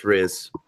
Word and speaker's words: Rizz: rizz she said it's rizz oh damn it I've been seeing it wrong she's been amazingly gracious